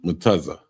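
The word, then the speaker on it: מצה: So it's spelled MATAZAH. That's Matazh. That's unleavened bread. Mutaza ya. I mean mutaza.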